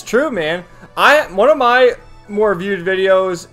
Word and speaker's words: Ann: One of my more viewed videos is, it's called like On, that's how you pronounce her name in Persona 5, On